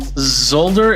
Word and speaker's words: Zolder: here and he is from zolder is that how you pronounce that that's right Jeffrey thank you very much